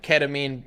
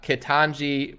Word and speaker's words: Ketanji: talk about kid john i gotta say her name right because if i if i went and said something like ketamine brown jackson you know that's hate speech it's probably illegal i'll get banished out of like society so i gotta pronounce it right and make no jokes about it uh kitanji brown jackson i apologize i'm not